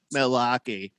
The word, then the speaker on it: Milwaukee: uh fish tank says actually the natives pronounce it miliwake hmm all right you mean by natives you mean like the native americans or the people in the house is wisconsin milwaukee i know if that was really the right pronunciation i think we should go with that because that's more awesome than malaki sounds actually kind of cool